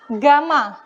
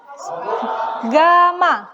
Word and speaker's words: gamma: ini dinyatakan dalam nih seperti huruf y ya Tapi bacanya adalah Gamma Gamma Gama ya jadi tegangan